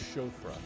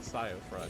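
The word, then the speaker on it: Siofra: the C for aqua the chra so it's pronounced chofa sorry it's not sofra it's chof that uh that Old English we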